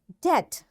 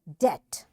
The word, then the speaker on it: debt: In second situation, here, debt. After B, the letter T is there. This letter T makes this B silent, and we don't say it, and we say debt.